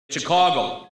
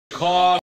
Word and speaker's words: Chicago: And on that level, Now, the city's name was traditionally pronounced with the thought vowel in its stressed syllable. Chicago. Chicago. But this has been decreasing for some time, even with speakers who still have strongly shifted vowels.